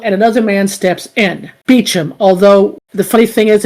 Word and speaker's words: Beauchamp: Which I find interesting that he say his name is Beecham, even though it's spelled in IMDb as Beauchamp.